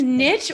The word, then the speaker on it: niche: even know honestly it's niche or niche i think it depends what it rhymes with so people say riches are in the niches but niches rhymes with riches right and then you